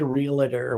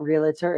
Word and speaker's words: realtor: Don't say realtor with 3 syllables.